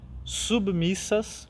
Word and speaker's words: submissas: Cuidemos com as seguintes palavras: solícitos, com acento, submissas, com o B mudo, né? Então pronunciamos bem essa palavra.